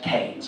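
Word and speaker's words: Kynes: excuse me young man I know it's spelled k y NES but here in the village we prefer to pronounce it canes I hope you don't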